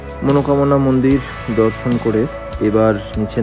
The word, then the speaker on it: মনোকামনা: শেষবারের মতো ঘুরে দেখা মনষ্কামনা মন্দির আসলে মন্দিরটার উচ্চারণ হচ্ছে মনোকামনা মন্দির এখানে নাকি পুজো দিলে